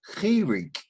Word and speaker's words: Chirik: Now the next Nakud is Chirik. C-H-I-R-I-K.